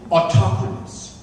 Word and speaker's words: autochthonous: This is the only place, the word is, may not be pronouncing it the way in which some people do, autochthonous.